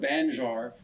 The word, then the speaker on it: banjar: And if we think about the word banjar, the first syllable gives us the first syllable of the word banjo, and the second syllable, A-R, gives us the second syllable of the word guitar.